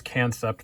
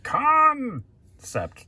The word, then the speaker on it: Kansept: review for you to date we have the concept cryo it's spelled kan SE PT completely understandable if you think it's can suck that's kinda what I thought at first too